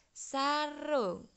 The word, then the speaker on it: sarung: Contohnya sarung. Jadi sarung itu tulisannya SARUNG tapi membacanya u-nya seakan-akan o. Itu u miring.